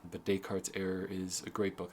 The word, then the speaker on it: Descartes: book called decart's error spelled like Descartes like Descartes if you haven't seen the name dayart before can trip you up but day cart's error is a great